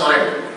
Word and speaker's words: Orange: Nah, Orange itu pakai NG, nah NG itu Orange, bacanya Ustaz Oreng.